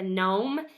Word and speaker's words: gnome: to do with a gnome and a knight both of those are silent letters at the beginning so be looking for